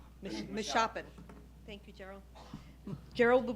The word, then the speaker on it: Meshoppen: Now we have our first Pennsylvania farmer, Gerald Carlin with Carlin Farms, and I'm not going to pronounce Meshoppen? Meshoppen.